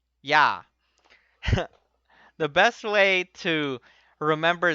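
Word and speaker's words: ㅑ: The second vowel is written as ya, ya.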